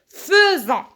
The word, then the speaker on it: faisons: Avec S, nous faisons, même si ça s'écrit faisons, mais je la prononce feu. Faisons.